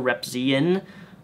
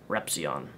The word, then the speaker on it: Repzion: Mr. Repzion, that's how you say my name, not Mr. Repzion. Repzy, it's Repzion.